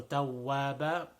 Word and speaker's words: تَوَّابًا: And then tawwaba. So tawwaba, making sure that the wow over here, we already talked about the wow, that it should not be pronounced like a V sound.